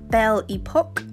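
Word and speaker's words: Belle Époque: and then this one it's pronounced Belle Epoque but I like to say belly poke because my children poke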